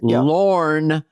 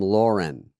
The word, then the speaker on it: Lorne: and in life, but the people that call him Lauren and they spell it Lauren, like the female name, is pretty interesting because,